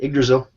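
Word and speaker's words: Yggdrasil: written this uh the I'm gonna mispronounce it igdrasil is that right yeah that's it igdrasil uh that you've also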